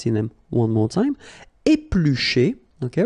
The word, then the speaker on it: éplucher: Éplucher, okay, remember when we've got this CH, the sound is sh, okay? Éplucher, all right?